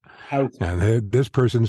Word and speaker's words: Houston: The street that separates Soho from Greenwich Village is not Houston, which is how it's spelled, Right. but Houston. Houston.